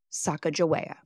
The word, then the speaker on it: Sacajawea: passed down through generations today I'm opting to say her name as some of her contemporary shishoni family members pronounce it Saka Jaa Saka Jaa was a